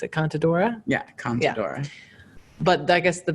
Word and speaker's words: Contadora: I don't actually know how to pronounce it. Contadora? Yeah, Contadora.